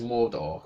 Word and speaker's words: Mordor: But I pronounce it as Mordor, because it's easier.